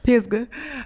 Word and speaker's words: Pisgah: Can you say it again? Pisgah Forest. Pisgah. Anyway, that's how the locals say it.